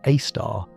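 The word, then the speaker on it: Sagittarius A*: Case in point, at the centre of the Milky Way, roughly 26,000 light-years from your cozy sofa, sits Sagittarius A star, pronounced A star, a supermassive black hole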